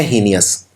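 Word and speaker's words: heinous: हीनियस की spelling है HEI और फिर लगता है नस, तो ही नस, लेकिन बोलते हैं हीनियस।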